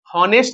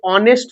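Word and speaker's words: honest: यहाँ पे आप देख रहे हैं ही इज, यहाँ पे हॉनेस्ट नहीं पढ़ेंगे, ये ऑनेस्ट होता है, क्या होता है, ऑनेस्ट,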